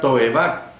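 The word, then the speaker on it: תועבה: utiliza para abominación es la palabra toebab todo va H intercalada la primera sílaba to y Eva con h al final también se consigna esta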